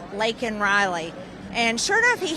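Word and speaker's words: Laken Riley: I yelled out to him say her name lak and Riley and sure know if he had this pen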